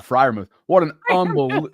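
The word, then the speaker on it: Freiermuth: weekend wasn't it um Fruth Meer how do you say his name oh it's Pat friou what an unbel like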